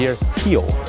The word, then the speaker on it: Rio de Janeiro: super cool unbelievable experience then we fly into Rio de Janeiro or as they say your heel which is interesting they don't pronounce there are at the beginning it's the